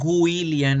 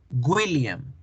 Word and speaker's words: William: Entonces, las personas cuando dicen William en español, están pronunciando mal, porque nosotros en español tendemos a hacer la W como el sonido de la sílaba gu, William, y no es gu, es una U, William, William, William, ¿sí?